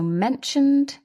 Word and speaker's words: mentioned: So mentioned, the ed is pronounced d.